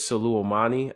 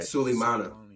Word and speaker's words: Sulemana: You know what's crazy about you said his name is Suleimani. I can't even pronounce it. That's what it is, right? Sulemana.